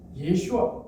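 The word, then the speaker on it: ישוע: 그리고 예수님 당시에 아람어에서는 글자가 살짝 달라졌습니다. 장음이 하나 빠졌어요. 예슈아 이렇게 발음이 돼요.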